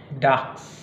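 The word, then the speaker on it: Dachs: Ada kadang beberapa kata itu mengkombinasikan CH dan S, CHS. Dan itu dilafalkan seperti X. Misalnya, Zex. Kemudian, Dax. Ya, Dax. Satu lagi, Fuchs. Gitu ya. Jadi seperti X dia.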